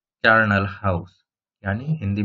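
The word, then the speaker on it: charnel: चार्नल में यहाँ पे एच को आप साइलेंट कर दीजिए, तो कार्न मतलब फ्लेश और हाउस तो हाउस समझते ही है।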